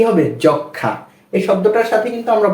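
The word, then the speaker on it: যক্ষ্মা: ম ফলা আকার জখমা বানান করার সময় আমরা কিন্তু জখমা পড়ে ফেলবো কিন্তু উচ্চারণের সময় হবে যক্ষা এখানে কেন যক্ষা হচ্ছে ম এর উচ্চারণ হচ্ছে না কারণটা হচ্ছে যে এটা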